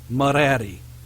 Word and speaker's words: Mereri: an R after it, that R is complementary, therefore we do not pronounce it. The next R, however, we do pronounce because it is considered by itself. It is a third R. And then Y. So, this person's name is Mereri.